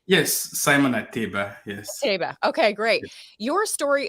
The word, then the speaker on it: Ateba: last name yes Simon at Tiba yes okay great your story is so fast most people say but it's actually a table yeah okay you said